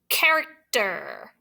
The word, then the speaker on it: character: Character. CH says K there.